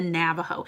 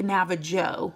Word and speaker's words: Navajo: That is the Navajo. It looks like Navajo, but it's pronounced Navajo. But for spelling, think Navajo.